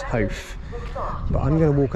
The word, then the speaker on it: Howth: over to Noah, because I know how you pronounce it. It's Howth.